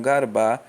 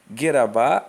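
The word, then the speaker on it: גרבא: construção de letras, né, ela é pronunciada em algumas versões como a expressão garbá, que significa leproso. No entanto, existe uma outra variação de pronúncia dessa expressão, que é gerabá ou grabar, né, que seria oleiro ou fazedor de barro, de vaso.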